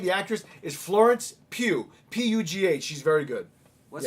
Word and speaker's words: Pugh: And let's She's just say been- her name, the actress, is Florence Pugh. P-U-G-H. She's very good. What's yeah. her name again? Florence Oh, Pugh.